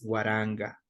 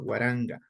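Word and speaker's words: waranka: recordar que mil es guaranga guaranga no es cierto guaranga igual aquí la k se pronuncia como la G de gato guaranga guaranga se pronuncia guaranga ya y lo mismo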